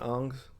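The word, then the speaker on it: Ingres: Ang is how you pronounce his last name.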